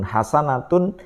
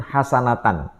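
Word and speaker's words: حسنة: Laqodana lakum fi rasulillahi uswatun hasanatun limanana yarjullaha wal yaumal akhir wakarlaha katsir itu dikutip dan diucapkan dengan cara satu salah harakat. Laqod kaana lakum fi rasulillahi uswatun hasanatan. Dia menyebutnya begitu.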